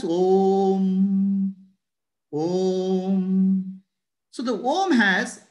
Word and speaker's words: Om: You should not pronounce as Om as A, U, Ma. Om has to be pronounced as Om.